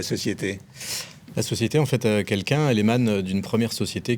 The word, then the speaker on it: Kelkun: Quelqu'un, alors ça s'écrit comme on le voit sur votre t-shirt, votre chemise.